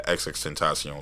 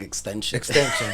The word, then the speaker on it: XXXTentacion: the freestyle over the XXXTentacion Look at Me joint, right? Thank you for teaching me today that that's how you say his name. How you were saying that? I was calling him an extension.